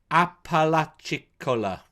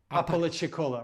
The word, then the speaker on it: Apalachicola: That's Tracy from I'm going to pronounce it wrong. In Florida, Apalachicola. Apalachicola, right?